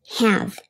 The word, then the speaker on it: have: the English language correct this word is pronounced have so am i doing